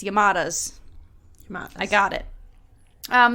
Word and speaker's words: Yamadas: is called my neighbors the yamadas and that pronunciation was really hard for me to not want to go yamadas but it's yamadas yamadas I got it um the film is